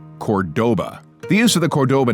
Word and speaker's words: Cordoba: cities together stays together Chrysler took some poetic license with the pronunciation of Cordoba the cities may be known as Cordoba but the cars all